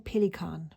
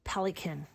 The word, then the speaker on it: Pelikan: for the pelicon m800 and I am saying pelicon because I'm German and I know how to pronounce that word it actually isn't called pelicin well that is what you would say if